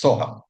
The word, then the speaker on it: Soham: Soham is basically the combination of Saha, Aham, right? So it's Soham. That's how we pronounce it.